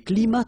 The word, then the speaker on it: climats: So you can see that even if we've got the plural form here, S, we don't pronounce the S, and then we don't pronounce the T either.